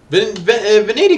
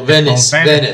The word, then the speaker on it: Venice: Veneti guys, also Law. Oh, well, Venice. Yeah, I just remembered that. I used the Danish pronunciation.